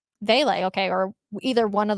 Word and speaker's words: Vele: Devon Veely or Veal? Vele.